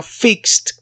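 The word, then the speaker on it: fixed: las mismas otro ejemplo fix en pasado sería fixt se escucha la t al final de la palabra porque es en pasado esa es la primera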